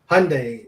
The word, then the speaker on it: Hyundai: phantom nerd says hyundai hyundai is said like sunday do those cars even